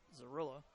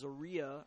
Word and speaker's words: Zarilla: Nice cut there by Zarilla, who I think I pronounced Zaria earlier, but they say it's Gorilla with a Z.